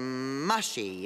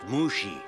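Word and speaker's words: Mushi: Mushy, is it? It's pronounced Mushy.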